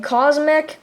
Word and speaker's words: Cosmc: Fun fact about his name, Cosmic is spelled Cosmic, right? But his name, Cosmc, is Cosmc, like Mick, like as in Mick, McDonald's, huh?